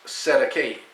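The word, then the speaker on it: Cestui que: Sestuke trust, pronounced Sedake, common term in New Zealand and Australia.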